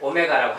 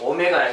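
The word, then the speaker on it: ω: 자, 쟤는 이제 오메가라고 읽습니다. 자, 이렇게 생긴 글자는 오메가라고 읽어요. 자, 글자 자체는 오메가라고 읽고, 자, 한 녀석이 오메가면 얘는 오메가 바가 되는 거예요.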